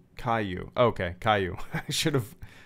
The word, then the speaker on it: Caillou: Kailu is pronounced Caillou.